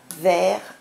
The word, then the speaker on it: vert: Donc ces quatre mots, vers, vers, vers et vers, ont le même son, on les prononce de la même manière, mais ils ont complètement des sens différents.